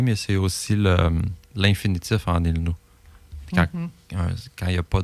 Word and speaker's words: ilnu: Tu peux sonner en O aussi, comme ilno. Ils n'ont OU. I-L-N-O-U, si je l'écris à la prononciation, là. Mais à l'écriture, on suggère I-L-N-U.